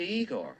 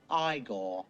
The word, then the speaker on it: Igor: You must be Igor. No, it's pronounced Igor.